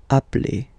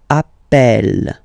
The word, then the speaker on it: appelle: You tend to pronounce it like E, E, really open. That's the reason why you pronounce it appel, appel, okay?